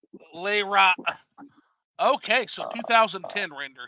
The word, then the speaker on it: Lara: And it's Lara, guys and girls, not Laura. I have to get Yeah. that on the I never knew how to pronounce that, system. so it is Lara. Okay. It's Lara, Lara, not Laura. I don't know why people say Laura.